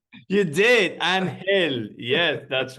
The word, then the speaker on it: Angel: name of course uh the name is spelled Angel but that's not the way it's pronounced in uh his native